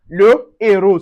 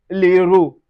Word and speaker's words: le héros: The ash aspiré is also not pronounced, but it blocks liaison and élision. That is, for instance, we have le héros. Le héros. So, we don't say l'héros.